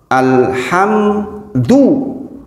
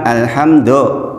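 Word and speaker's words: الحمد: Contoh kasusnya adalah di ayat kedua, alhamdu, bukan alhamdu, do beda dengan alhamdu.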